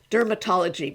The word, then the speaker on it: DRMTLGY: So there's this a company called Dermatology, but it's spelled funny, DRMTLGY.